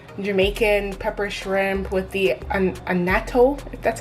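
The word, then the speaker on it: annatto: be the traditional jamaican pepper shrimp with the anato that's how you pronounce it the red oil that makes it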